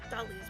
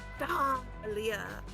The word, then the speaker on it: Dahlia: Dahlia is definitely pronouncing the H in her name, but she doesn't use a typical H sound. Instead, she uses a guttural scream summoned directly from the depths of hell.